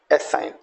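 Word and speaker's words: assign: अब देखिएगा कॉलोन, जी को हम साइलेंट छोड़ दें, colon. Genome, right. डिजाइन, रिजाइन, foreigner, एलाइन, एसाइन।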